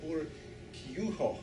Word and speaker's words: Urquijo: She was engaged to him, how do you pronounce that? Urquijo. Urquijo. That sounds so good.